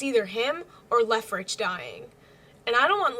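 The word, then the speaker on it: Leofric: it's either him or Lefrich dying. And I don't want Lefrich to die. I think that's how you pronounce his name. I kept on saying Lefric, but I think it's pronounced Lefrich.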